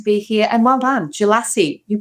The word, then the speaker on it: Djelassi: And well done, Jalassie, you pronounced it correctly.